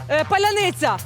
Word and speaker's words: паляниця: підстава має є є слово яке не може вимовити русня Поляниця Ого павоки паляния Я роблю ля моя курочка